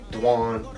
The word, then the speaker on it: Dw'Juan: Well, actually, Dw'Juan is my real name, but it's supposed to be pronounced Dw'Juan, kind of a French way.